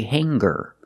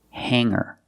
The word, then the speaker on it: hanger: like singer and hanger in both of these words the G is not pronounced with a hard G sound we don't say singer and we don't say hanger we say singer and hanger but if you look at these two words longer and younger we do pronounce the G sound longer and younger he's